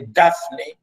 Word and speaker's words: Daphne: You can see it, and this is how we pronounce it. We say Daphne.